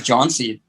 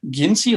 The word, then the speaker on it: Jhansi: city is, of Jhansi, there was taxi drivers pretending they couldn't even pronounce the name Jhansi because I wanted to go to the Jhansi hotel, what is and they were that? saying, "Oh, Jinsi, Ginsi," like they're pretending they couldn't pronounce the name of their own town, which is the name of the hotel.